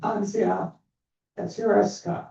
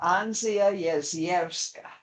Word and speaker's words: Anzia Yezierska: She began her career at 16 as literary assistant on the butchered pronunciation Anzia Yesierska. Anzia Yezierska.